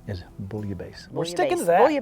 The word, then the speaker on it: bouillabaisse: in in the french if there's two s's it's not the z sound it's the hard s sound so you might hear some people say buoy a buzzer bullier base or i think proper